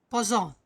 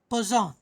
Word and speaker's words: Poisson: This is not poison. Okay. Don't read it as poison. It is not poison. It is a name of a scientist. His name is Poisson. Poisson. Okay. It is pronounced as Poisson.